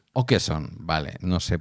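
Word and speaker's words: Åkesson: La A con un sombrerito con una O encima. Con un Sí, con una especie de circulito por encima. Se pronuncia o cedilla o cejilla. Ya no me sé cómo se llama. No, no. O que eson.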